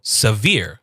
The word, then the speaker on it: severe: This means that we are going to emphasize whatever is after that. So here we have s which is our first syllable s and then we have ver. So severe.